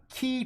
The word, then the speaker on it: Qi: And this is actually called key charging. QI. That's how we spell that.